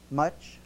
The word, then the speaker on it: Munch: Here's an article by Robert Munch. Much? Is that much? That's how it's pronounced.